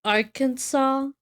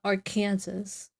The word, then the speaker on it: Arkansas: But why is Arkansas Arkansas and not our Kansas? Like I want to call it our Kansas every freaking time, but I know it's freaking Arkansas.